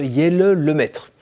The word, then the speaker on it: Jelle Lemaître: Alors j'ai un cadeau pour vous aujourd'hui, c'est la présence de Jelle Lemaître. J'ai bien prononcé?